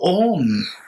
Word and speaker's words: Om: So Om, which consists of 3 syllables, A-O-Ma, indicating your body, speech, and mind, reminding you that let us not don't be in this, okay, Dr.